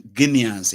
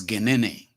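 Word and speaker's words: Guinéens: No, you have to say it in Guineans is in English. In French, it is Genene.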